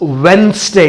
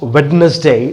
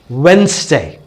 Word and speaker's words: Wednesday: It is always pronounced as Wednesday. It's never pronounced as Wednesday. The reason is that D is silent. So you pronounce it as Wednesday, not Wednesday.